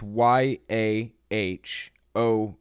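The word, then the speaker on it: Yahowah: word for Lord adoni when you add the vowels of adoni to the consonants of yhwh it makes it very hard indeed to say and when you do it's y a h o w a h yaho kind of like that yaha when it was originally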